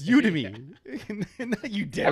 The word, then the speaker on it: Udemy: is you to me it's like Academy it's udemy and that you did